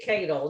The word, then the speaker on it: Cadle: kirsten said dear stan you can think of my last name as uh soup ladle oh there you go